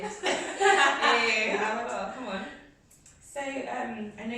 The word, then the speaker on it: Awoloto: Mrs. Awoloto. I said it right, I think. You did. Hey, Awoloto, come on.